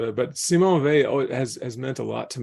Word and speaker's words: Weil: I would say that I've always said her name Vey. I don't know if it's I don't know quite what's right. I think it's the sort of the French and German pronunciations of it.